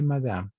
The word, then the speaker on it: madame: Muy bien, madame, simplemente madame. La E no se pronuncia y es madame.